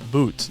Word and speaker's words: But: entire episode yeah I I mispronounced denil butt's name the entire time his name is not but it's boot denil boot is his name but in all fairness